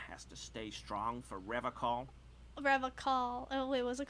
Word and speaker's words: Revachol: He pronounces Revacol with a hard K. Oh, it's not unlike pronounced other that. people. You said Revacol? Revacol?